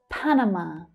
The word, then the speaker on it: Panama: Panama. The first and the last syllables there are quite strong.